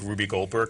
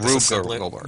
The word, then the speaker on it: Rube Goldberg: I don't even know what they're making, but it's like this big Ruby Goldberg contraption, and it's like Rube Goldberg. Rube Goldberg, is that how you pronounce it?